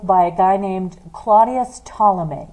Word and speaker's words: Ptolemy: a guy named Claudius Ptolemy yes it starts with the P but the P is silent so his name is Tala me and his theory is